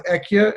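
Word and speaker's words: אהיה: life in the name Aleph Hey Yud Hey, which is pronounced Ekia, as Moshe found that in Parashat Shmos, when he says to God, whom shall I say is calling?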